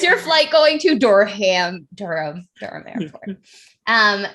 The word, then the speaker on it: Durham: as they hear so i think i said durham airport and uh my trainer was like it's durham and i was like